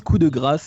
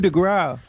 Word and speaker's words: coup de grâce: et donc voilà j'ai je prononce coup de grâce et bien sûr les américains d'un disque ou de gras oui tu pourrais très